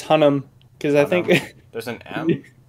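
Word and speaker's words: Hunnam: last name do you what oh yeah it's hunnum because i think there's an m yeah m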